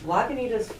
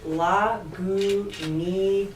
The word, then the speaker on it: Lagunitas: You put more goo in it.